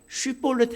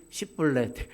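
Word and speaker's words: שיבולת: 쉬볼렛 해 봐. 슈볼렛.이 이 남쪽에 있는 에브라임 사람들은 십불레 발음이 이렇게 되거든요.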